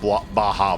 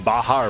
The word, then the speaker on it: Baja: cup very hard, would hurt a little bit more than a cup of Baja blast to the face.